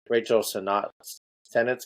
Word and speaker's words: Sennett: but I really enjoyed Rachel Sennett's character. I don't know how to say her last name. She was Senate, I think is it. I think you got it.